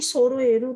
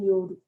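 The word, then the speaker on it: 揃える: Moji wo chu ni soroeru itu maksudnya ditengahkan gitu ya. Chu itu kan center ya, Ctrl J di sini. Ctrl E ya. J justify ya. Center ya ketengahkan, tapi bacanya soroeru bukan yoru.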